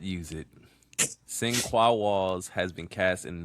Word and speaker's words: Sinqua: Sin Qua Walls has been cast in Mana tomorrow in theaters on July 9th, 2027.